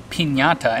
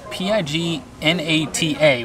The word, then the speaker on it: pignata: This dish is called piñata, and it's spelled P-I-G-N-A-T-A.